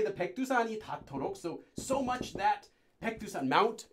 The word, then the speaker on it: 닳도록: And 닳도록, which due to sound change rule, this will be pronounced as 닳도록. 닳도록, due to sound change rules.